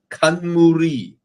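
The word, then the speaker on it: 冠: It came from the word crown, pronounced in Japanese.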